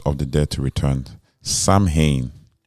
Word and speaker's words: Samhain: thins during Samhain or Sowing, making it easier for spirits and the souls of the dead to return. Samhain is pronounced Sowing, but it's spelled Samhain.